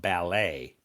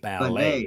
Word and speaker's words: ballet: It's this is pronounced ballet. Oh, I'm sorry. Ballet. Ballet. Ballet is a Ballet is a French word, so it's pronounced ballet dancer. Oh, the T is silent.